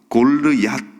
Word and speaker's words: 골리앗: 이 골리앗이라는 사람의 이름은요 골르앗, 원래 발음은 골르앗인데요.